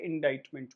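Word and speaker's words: indictment: उसके बाद आपने कहा इंडाइटमेंट होगा। कि इसमें साइलेंट होती है। इंडाइटमेंट बोलेंगे।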